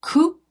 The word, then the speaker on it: Coupe: It's called Coupe. It's French. C-O-U-P-E. It's because I don't think you pronounce anyway. Coupe.